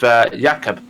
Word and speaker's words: Jakob: And Peter Jones, this battle with Jakob, not sure how you pronounce that. It's Jakob.